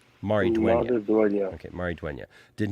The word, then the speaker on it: Maridueña: How do you pronounce his last name? It's Maridueña. Maridueña.